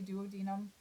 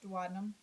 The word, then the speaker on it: duodenum: duodenum this is a term that gets different pronunciations some people will say duodenum I've always used and been presented with duodenum so coming out of the stomach into that